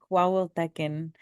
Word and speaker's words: Coahuiltecan: It is Lipan Apache and Coahuiltecan.